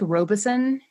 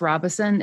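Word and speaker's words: Robeson: called Robinson County now you have to say it real fast it looks like Robison if people have ever seen it but it's pronounced Robinson it's one of those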